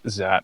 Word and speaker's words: Xat: Yeah, well, people pronounce it differently, but I say Xat because that's the correct pronunciation.